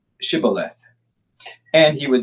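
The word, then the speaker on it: Shibboleth: If he said, "No, then they would say to him, then say Shibth." And he would say Shibth. Oh, he would say Cibolith for he could not pronounce it right.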